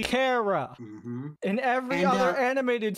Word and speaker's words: Kara: If you actually pay attention to how Kryptonian is structured, or Kryptonese is structured as a language, it should be Kara.